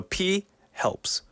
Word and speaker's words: Phelps: It is Phelps. So P helps. Yeah. That sounded kind of weird. Why do you say it like that, man? No, I didn't even think about it until I said it. So it's Phelps. Okay, yeah. Phelps. Like photograph. Right.